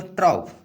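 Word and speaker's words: troupe: अब देखिए ट्राउप। ट्राउप मीन्स क्या होता है, या ट्रूप, आप प्रोनाउंसिएशन इसका कुछ भी कर सकते हैं, ट्रूप या ट्राउप।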